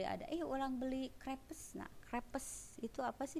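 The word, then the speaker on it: crêpes: Nah, crepes itu apa sih dibacanya? Nah, beli yang makanan yang tipis-tipis itu yang pakai coklat. Nah, dibacanya crepes. Ya, crepes. Jadi bukan crepes atau crepe. Grapes, jadi ada ei-nya gitu ya.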